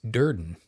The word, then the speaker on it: Durden: What rhymes with burden is Duran. And if you remember Tyler Deran from our the famed